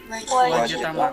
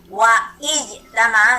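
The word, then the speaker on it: واجتمع: Andai kata saya taruh waw di depan, waw, maka saya bacanya harusnya gimana? Wajtama. Wajtama. Boleh nggak dibaca wa'ijtama? Salah. Dalam qiraah itu salah itu ya.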